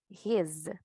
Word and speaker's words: his: pero que dice acá que esta vamos a pronunciarla con z está la s Pero va a haber un sonido de ese si no va a haber un sonido de Z entonces correctamente estábamos a pronunciarla his fuerte y vibrante verdad es